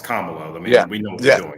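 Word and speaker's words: Kamala: or do you prefer Cala Harris okay he didn't really answer the question there at all Michael and he said and he said her name wrong it's kamalo I mean we know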